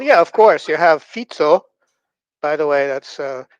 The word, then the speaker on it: Fico: You have FITSO, by the way. That's uh that's how it's pronounced. It's It's not FICO or something like that.